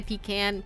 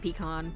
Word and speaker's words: pecan: I say pecan and pecan. I've heard myself say both. Pecan. Pecan, like tin can.